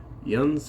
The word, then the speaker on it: Jens: this week's book is The Lego Story by yans Anderson I I did have to look up how to pronounce that name it spelled like Jens but